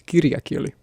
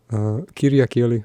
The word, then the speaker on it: kirjakieli: But there's puhekieli, which is spoken Finnish, and there's kirjakieli, which is, forgive my pronunciation, kirjakieli, which is written Finnish.